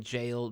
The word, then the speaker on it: gaol: I feel like there's no justification for spelling jail G-A-O-L. Yeah, there is. It's a soft G. It's actually as it sounds.